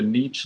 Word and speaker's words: Niche: Now, Danny at the Niche Lady, I always want to say the Niche Lady, but she pronounces it the Niche Lady, which is also acceptable, and it's her channel, so that's what it is.